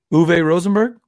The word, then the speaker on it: Uwe Rosenberg: Chick-fil-A, Chick-fil-A, so I don't know how to pronounce anything. But anyway, he's the designer of Agricola. Is it Rosenberg or something? Uwe Rosenberg?